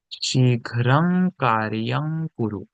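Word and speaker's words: शीघ्रं कार्यं कुरु: Vous pouvez dire, comme j'ai dit avant, vous pouvez dire Shighram Karyam Kuru. Mais c'est comme un débutant. Ok. Euh, la correcte prononciation, c'est Shighram Karyam Kuru.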